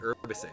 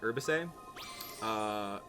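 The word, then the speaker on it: Urbosa: Mifa, Urbisa, yeah, and Drauk. It's Mifa, Urbise. Sorry, Urbise. Like herbicide, but Urbise.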